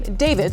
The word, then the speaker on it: D4vd: The car, which was a Tesla that belonged to a singer and Queens native who goes by the name David spelled with a for this key car was found just outside of the garage of the home.